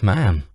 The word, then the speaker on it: ma'am: your majesty thereafter it's just ma'am rhymes with ham just whatever you do